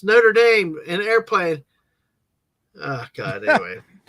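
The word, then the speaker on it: Notre-Dame: Frankenstein so hey exactly thank you for pronouncing that correctly Hunchback of notredam not Notre Dame that's how Homer Simpson would say it Notre Dame I know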